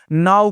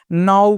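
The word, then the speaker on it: know: नाउ पढ़ना है। इसे आपको दोस्तों कनाऊ नहीं पढ़ना है। क्या पढ़ना है इसे? नाउ पढ़ना है।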